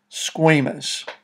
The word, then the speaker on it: squamous: are called squamous cells squamous the a in the word is pronounced like the letter a and of course you